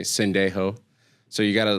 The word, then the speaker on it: Sendejo: Dejo is still technically 2 syllables, but you don't have time to say Sendejo.